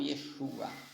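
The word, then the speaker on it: ישוע: Eu falei que ele não tem som, mas ele no hebraico antigo e hoje no moderno também ele tem som de A. Então Yeshua.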